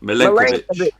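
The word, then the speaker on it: Milenković: Milenkovic. That's it. Lenk. I'll just remember Lenk. Milenkovic. Would you have Milenkovic or Zuma? Me, I'd have Zuma personally. Right. I don't know too much about Milenkovic.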